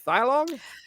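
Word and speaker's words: Thailog: from the villainous thog is that how you pronounce it thog yep gargo or it's Goliath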